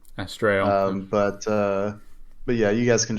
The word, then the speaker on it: Astarael: I think any pronunciation is probably okay, but I usually say it as Astarael. Astarael.